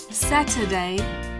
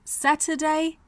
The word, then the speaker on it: Saturday: zed Thursday Friday on Saturday Saturday s a t Ur d a y but the UR comes out as uh Saturday and on Sunday so